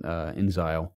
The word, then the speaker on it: inXile: didn't know this about inXile which I think I'm pronouncing that right like instead of exile it since I oh